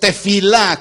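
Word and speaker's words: תפילה: pero el término hebreo es de fila con efe de feo y acento en la a de fi la oración la palabra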